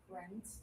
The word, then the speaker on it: friends: Another example of you have an IE. It's not friends. No, it's just teeth together. Friends. So it's a little bit of a strange spelling, but Ayako did great.